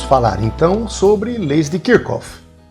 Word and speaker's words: Kirchhoff: Vamos falar então sobre leis de Kirkof, que alguns pronunciam o Kirchof, outros Kirschof.